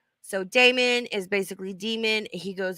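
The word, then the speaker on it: daemon: it it's like the Damon mailer comes back it's spelled d-a-e-m-o-n like we talked about Damon's demons like a couple years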